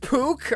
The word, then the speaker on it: Pook: Their name is pronounced Pook? Okay, I'm sorry, I had the name entirely wrong. I was calling them Puck because I'm a theater kid.